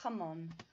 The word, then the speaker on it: jamón: So it's not Y. Sorry about that. It's el jamón. That's ham. El jamón.